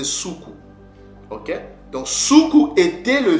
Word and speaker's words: Suku: Donc, Soukou, ce nom-là, ne se prononce pas Soko, mais c'est Soukou.